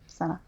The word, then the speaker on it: Sana'a: The capital city is Sana'a. Oh. Sana'a? It's spelled weird. It's S-A-N-A with an apostrophe A. Sana'a.